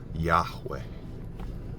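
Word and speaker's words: Yahweh: sacred word just FYI is yahwe which is one of the Sacred names of my higher power two syllables and it can almost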